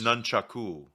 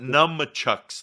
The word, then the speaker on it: nunchaku: Well, it's spelled nunchakas, right? Yeah, something like that. So it's close. Nunchaku. No, it's not numchucks, though.